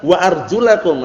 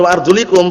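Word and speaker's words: وأرجلكم: Kalau antum bacanya wa arjulikum berarti maknanya apa? Dan cucilah kaki kalian. Basuhlah. Artinya ini basuhlah. Berarti diusap aja gini, cukup kata mereka. Paham ya? Itu keliru.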